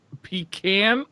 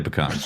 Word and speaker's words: pecan: JB Mega says is it is a pecan pronounced pecan or pecan I usually say what about Pekin what about um yeah that's the third I usually say pecans I'm from I'm from the south it's pecan